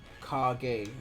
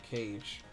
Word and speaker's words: Kage: It's pronounced Kage, not Cage.